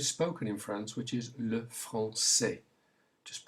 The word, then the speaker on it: le français: There isn't a country with a S sound with a cedilla, but we have the language spoken in France, which is le français. Just pronounce it to get the combination, le français.